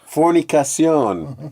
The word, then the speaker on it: fornicación: in Spanish. It's fornicación. Oh. You got to throw a little accent on there.